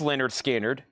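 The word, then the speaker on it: Lynyrd Skynyrd: The Leonard Skard in here are second helping MCA7 reissue label pronounced Leonard Skard VG+ 77 MCA tan reissue label.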